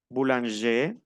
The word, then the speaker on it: boulanger: Exemple, boulanger, no le pronuncio la R a los masculinos que terminan en R.